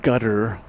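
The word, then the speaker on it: Qatar: I know there's people who say gutter is the way to pronounce Q A T A R but I'm going to go with Katar Well, that is flight 49 Eva Air going to Taipei.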